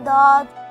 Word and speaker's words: Dawd: For your understanding, you can spell DAWD in English as D-A-W-D, DAWD. It sounds like the English word paw.